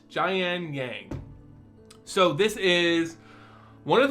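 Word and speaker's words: Jiang Yanggu: all right next up we have gian yang i believe that's his name and how it's pronounced jayan yang so this is one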